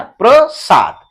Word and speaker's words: प्रसाद: तो यहां पढ़ते हैं सिर्फ, और यहां पे देखिएगा प्रसाद, प्र र पूरा आता है प्र, ठीक है ना, प्रसाद।